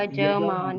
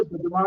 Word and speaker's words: यजमान: यहाँ पर यजमान है, यजमान हम लोग बोलते हैं, वो गलत है। उसमें आधा नहीं करना है, यजमान नहीं बोलना, यजमान, हाँ, यजमान, आनी चाहिए ना। तो यजमान। यजमान, उसको दूसरे प्रकार से जो प्रोनाउंस करने हैं, वो या को ही चेंज कर देते हैं, जा बना दिया जाता है कुछ जगहों पर, तो वो यजमान हो जाता है।